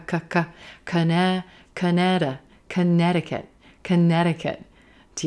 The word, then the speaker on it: Connecticut: Connecticut, Connecticut. Do you notice? There's a flap T in there. Dicket, dicket, Connecticut, Connecticut.